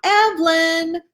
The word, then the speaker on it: Evelyn: with the calm sing-song, "Evelyn!" She used to summon me to supper every night, the first syllable accented and extended before dropping into a short, lower-toned chirrup at the end, a secret call between hen and chick.